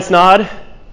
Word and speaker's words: Snod: my name is snod it rhymes with odd if you guys were